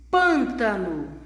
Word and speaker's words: pântano: Pântano, a boca não se abre, como no acento agudo, como naquelas palavrinhas que contêm acento agudo.